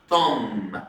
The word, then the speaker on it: tomb: 27 they discovered، اكتشف an ancient tomb. حد شاف كلمة tomb؟ البي سايلنت على فكرة، بي سايلنت معناها مقبرة قديمة.